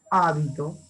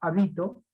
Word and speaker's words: hábito: Hábito. Es una palabra esdrújula. Hábito. Gracias a qué? A la tilde. Como está la tilde en la A, entonces sé que es esdrújula. Hábito. Y no voy a pronunciar habito, ni voy a pronunciar habitó.